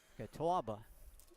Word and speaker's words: Catawba: Catawba Valley Community College do you pronounce that out the W there is it yeah that's your Yankee coming out boy tawbah okay at least he